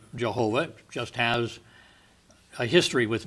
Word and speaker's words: Jehovah: it and and they we we've taken the spelling from the german because the yah in german is spelled j-a so that came out jehovah all right now jehovah has years of usage behind it so i when i speak of the word i generally say jehovah just has a history